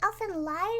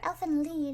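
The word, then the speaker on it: Elfen Lied: know is lucy from is it elfin light or elf and lead i've seen it pronounced both ways and i don't want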